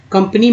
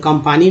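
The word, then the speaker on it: company: कंपनी में ए को अ बोलते हैं, आ थोड़ी बोलते, कंपनी में ही बोलते, कंपेनी नहीं बोलते, कंपैनी नहीं बोलते, कंपनी तो बोल रहे हैं, आ बोल रहे हैं।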